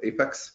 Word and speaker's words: APEX: Oracle Application Express is called Oracle Application Express, but everyone calls it Apex, and this is, I guess, the proper pronunciation.